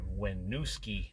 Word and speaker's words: Winooski: do have a correction the place that I'm going to is in wusi Vermont not whatever I uh previously said I mispronounced it as usual uh almost done here